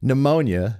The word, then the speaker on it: pneumonia: a a a typo pneumonia with a p has a p in front of it a silent P like pterodactyl pterodactyl is